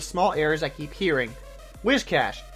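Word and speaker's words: Whiscash: Wishcash, not Wishcash.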